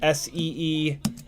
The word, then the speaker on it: Ciotti: The phonetic that I usually give is this SEEAHHTEE. That's usually the phonetic that I give of my last name.